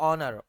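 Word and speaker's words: honour: अच्छा ओनर लगे हाथ तो यह भी बताता चलूं कि ओनर में जो है वो एच साइलेंट होता है। तो ऑनर ऑनर पढ़ा जाता है इसको ऑनर।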